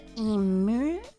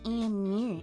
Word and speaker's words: emu: Now, next up, we've got the emu, or as some people like to pronounce it, the emu, which I personally don't get. It's an emu. It's pronounced mew, not moo.